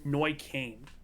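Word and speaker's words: Neuköln: then you go to what is it neukulen which is this one i did look up the pronunciation it's it's noy kane oh okay close uh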